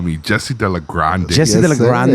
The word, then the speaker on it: de la Grande: But you have to say it like that, de la Grande. De la Grande. Grande. No, de la Grande.